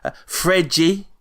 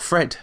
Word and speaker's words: Fred: Fregi scored a goal. Apparently it's not Fred.